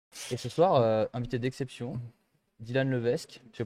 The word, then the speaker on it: Dylan Levesque: Et ce soir, invité d'exception, Dylan Levesque. Je le prononce bien, c'est bon? Ouais, parfait. C'est vrai? Et c'est rare, hein, donc bravo. Eh ben, j'ai lu, et en fait, j'ai lu comme c'est écrit, donc ouais, bah cool, tant mieux.